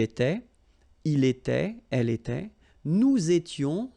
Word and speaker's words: nous étions: Okay, tu étais, il était, elle était, nous étions, little liaison here to make it more beautiful, nous étions, okay, final S not